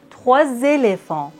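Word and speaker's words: trois éléphants: Vous voyez, dans la liaison, le S et le X se prononcent Z. 3 éléphants, 2 enfants.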